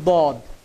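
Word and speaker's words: ضاد: দেখুন আমাদের এখানে প্রথম যে হরফটি দেওয়া আছে এই হরফটির নাম হচ্ছে দদ। এই হরফটির নাম দদ। আমরা অনেকে এটাকে দোয়াদ বলে থাকি, এর নাম কিন্তু দোয়াদ না, এর নাম হচ্ছে দদ।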